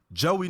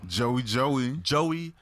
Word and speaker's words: Geauxie: Geauxie Nicole, ladies and gentlemen. Geauxie Nicole. Okay. Now it's spelled Geauxie. Yeah. That's how they spell Joey, but it's pronounced Joey, like Joey.